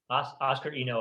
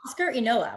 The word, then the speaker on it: Huascar Inoa: And then I'm going to say his name wrong. Huascar Inoa? Yeah. Oscar Eno, I believe. Yeah. Oscar Inoa.